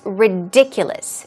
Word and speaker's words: ridiculous: The pronunciation for this word could be a bit tricky. It's ridiculous.